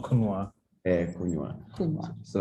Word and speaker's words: kunywa: Like it's a 2 syllable. 2 syllable. Ku and nywa. Nywa. The W. Yeah, nywa. Yeah. If you say kunywa, means you have put 3 syllables there. Yes. I think I overemphasized the W in case you missed it, because it means something else.